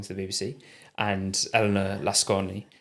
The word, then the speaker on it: Lasconi: the BBC, and Elena Lasconi. It might be Lascon, I think you don't pronounce the I on the end, but who's sort of centre left or quite a centrist candidate.